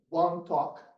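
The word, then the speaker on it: wantok: Solomon Islanders is what one talk they belong to and it's spelled w n t o k and that's a pigeon version of one talk like one language right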